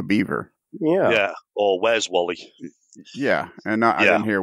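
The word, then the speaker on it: Warley: w-a-r-l-e-y i didn't hear i didn't hear an r in there when he i didn't either yeah i heard well i heard wally like as in wally and cl and the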